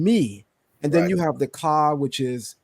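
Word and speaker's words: מי: who is me yes when you want to say um who in Hebrew which is an interrogative question it's pronounced me yes when you want to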